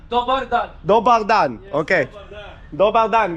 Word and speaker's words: Dobar dan: Dominan? Dobar dan.